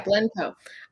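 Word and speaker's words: Blencowe: the year as well against arlene blend uh pronounced last name for me yeah blenco um yeah i mean i do i know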